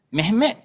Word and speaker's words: Mehmet: Dekat Turki dia tak kata Muhammad, Mehmet. Dia eja kalau dia eja Arab Muhammad juga. Tapi dia sebut Mehmet. Eja Ruminya Mehmet.